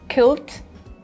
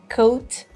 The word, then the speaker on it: coat: The British pronunciation is coat, coat. The American pronunciation is coat, coat. The difference is really, really small. Mostly in British words, when we want to say O, we have the sound of O, like here, whereas in American pronunciation,